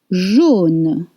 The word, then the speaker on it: jaune: Jaune, with O sound.